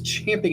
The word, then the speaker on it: champing: I guarantee you guys, that Pence was champing at the bit. Apparently that's the correct pronunciation.